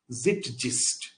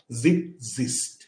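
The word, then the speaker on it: Zeitgeist: তাহলে কোনো একটা পার্টিকুলার টাইমের ডিফাইনিং ক্যারেক্টারিস্টিককে বলা হয়ে থাকে জিটজিস্ট। তাহলে আবার প্রোনাউন্সিয়েশনটার মধ্যে কি হচ্ছে? জিট জিস্ট, জেড জ, জিট জিস্ট, জিটজিস্ট না কিন্তু, জিটজিস্ট, জিটজিস্ট, ঠিক আছে।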